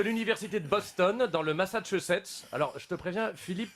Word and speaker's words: Massachusetts: Alors, je te lis, hein, c'est une étude de l'université de Boston, dans le Massachusetts. Alors, je te préviens, Philippe prononce « masse-moi les chaussettes ».